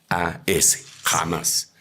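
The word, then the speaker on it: חָמָס: se dice con la palabra 2555, que se pronuncia K-J-A-M-A-S, jamás.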